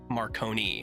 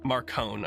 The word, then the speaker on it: Marcone: Yeah, I guess my like mob brain just was like, it's Marconi. Marconi, yeah, the Marconi man. Not Marcone. It sounded more mafioso to me. So Marcone. Okay.